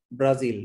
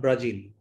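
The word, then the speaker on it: Brazil: না trapezium, ব্রাজিল নট ব্রাজিল, বাট not Argentina, this is Argentina. আর্জেন্টিনার ক্ষেত্রে জ উচ্চারণ হবে বর্গীয় জ, কিন্তু যখন ব্রাজিল উচ্চারণ করবেন, ট্রাপিজিয়াম উচ্চারণ করবেন, তখন উচ্চারণটা হবে জি, জ, জেড এর মতো।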